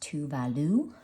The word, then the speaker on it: Tove Lo: while ago to do her name is pronounced to Value very cute and um